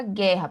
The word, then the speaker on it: guerra: teria um ditongo crescente mas observe a palavra guerra por exemplo a palavra guerra oo não tem som é um dígrafo lá o g u e não é para almoçar Então